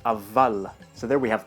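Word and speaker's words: اول: The Arabic word for first is awwal, but in Persian it's avval. So there we have the waw becoming pronounced like a vav.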